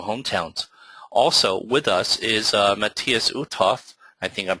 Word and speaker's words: Matthias Uthoff: Also with us is Matthias Uthoff. I think I'm pronouncing that correctly, right, Matthias?